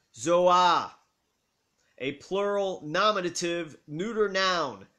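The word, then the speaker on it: ζῷα: amen amen so the greek word used is pronounced zohar a plural nominative neuter noun meaning animals pronounced zouan for a single animal as in verse 7.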